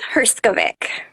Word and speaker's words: Herskovic: your help in pronouncing your name, your surname, Sure. So it's Herskovic. Herskovic.